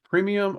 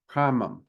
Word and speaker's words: Primum Mobile: Uh, I've heard it pronounced premium or primum. I think it's primum because premium, it's not premium. I'm sorry, I just can't see premium in it.